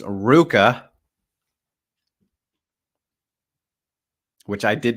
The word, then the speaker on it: RVCA: with the fun question asking how do we pronounce Ruka which I did not know for like until